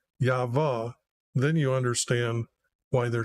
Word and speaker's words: Yahweh: I just got rid of the letters H, and I'm using the two letters YHVH, or if you pronounce those two letters that are in the Hebrew language, Yahweh, then you understand why they're trying to make all these other names up from them, Yahweh.